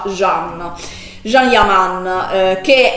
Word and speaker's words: Can: chiamarlo così perché io l'ho sempre chiamato gand ma in realtà e il sogno che si pronuncia jean gialli a man che